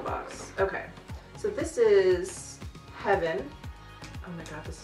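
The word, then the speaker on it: HVYN: also threw in um it's spelled h v YN but I'm going to say heaven and it's also another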